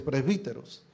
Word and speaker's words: presbíteros: Se escribe presbúteros, pero la pronunciación es presbíteros.